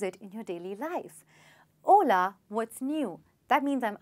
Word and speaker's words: hola: Well, H is silent and hola is basically a Spanish word to say hey or hi.